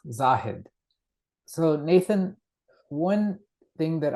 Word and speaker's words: Zahid: And um my first name is pronounced Zahed.